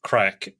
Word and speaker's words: craic: So it looks like crake, but it's pronounced crack.